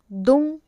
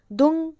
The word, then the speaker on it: दुं: उनका ओम दुर्गाय नमः अब कुछ लोग इस मंत्र को दुम पढ़ते हैं ओम दुम दुर्गाय नमः लेकिन नहीं इसका जो सही उच्चारण है वह है ओम दंग दुर्गाय नमः जब कोई भी साधक